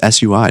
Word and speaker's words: Sui: Let's uh let's talk sui really quickly. Or is it sui? Um, no one knows how to say this. Knows how to say it. S, it's sui, Dan. Sui.